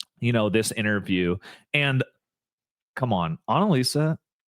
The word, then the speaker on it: Annalisa: You said it right, Annalisa. Yeah, you said it right. Okay, I'm just in not Spanish, that smart. It's actually it's like if you put it together, Annalisa means analyze.